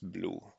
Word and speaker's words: BLEU: the metric called BLEU, also typically pronounced blue. So BLEU is French for blue, and BLEU actually stands for Bilingual Evaluation Understudy.